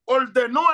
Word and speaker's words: ordenó: recuerdan no dice aquí ordeno tiene un acento en la o ordeno el señor ordenó el señor que a